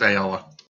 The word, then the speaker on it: Ayala: So it is pronounced Ayala. Yeah, that's how I say it at least.